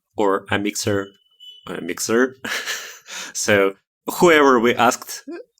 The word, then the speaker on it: Amixr: on call it uh used to be called a mixer or a mixer mixer so whoever we asked everybody had different